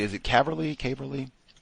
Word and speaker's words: Caverly: Uh, one, am I pronouncing it correctly? Is it Cly? Caverly. Yes, sir. It is Cly. Caverly.